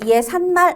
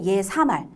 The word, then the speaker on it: 예사말: 예사말. 이것도 얘 산말 아니고 예사말. 발음 자체에 발음으로 시옷이 들어갈 만한 근거가 없어요.